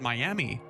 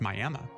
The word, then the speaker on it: Miami: It's spelled Miami, but it's Miami. No, it's actually pronounced Miami. I promise it's not something I enjoy, but it is definitely Miami.